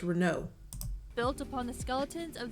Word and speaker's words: Renault: She said Renault too. That's not how you say it, ma'am. The Europeans will correct you. It's Renault.